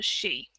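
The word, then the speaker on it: sìth: the kushi i think because i think you pronounce sith as a she which means fairy dog and weirdly it was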